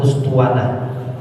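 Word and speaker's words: أسطوانة: Hamzati bacanya dengan domah hamzah ustuanah audin di dekat tiang.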